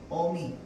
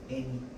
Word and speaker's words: 어미: 표준 발음이 아닙니다. 대표적으로 뭐가 있냐면 아기, 애기, 어미, 애미, 그 다음에 고기, 괴기.